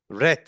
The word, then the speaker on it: read: Bakın, read diye yazılır ama read diye okunur. Eee, o konuda, eee, yani read fiilinin üç halde readtir. Yazılış şekli read'tir. Ama 2 ve 3üncü halinin okunuşu red şeklindedir. Evet, aradaki farkı anlatmış olduk.